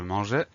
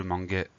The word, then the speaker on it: mangeais: Un exemple, je mangeais. Un deuxième exemple, nous rangeâmes. Si on oublie le E, ça donne je manguais et nous rangâmes.